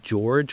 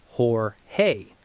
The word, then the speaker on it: Jorge: While people accidentally say George with a hard English J, the standard American industry pronunciation is Hor-hay.